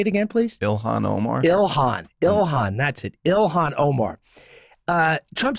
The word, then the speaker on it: Ilhan Omar: Ilhan, that's it.